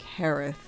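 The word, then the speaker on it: Jerez: It's not how it looks at all.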